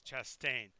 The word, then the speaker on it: Chastain: And the other guy goes, you pronounced his last name wrong. It's Chastain.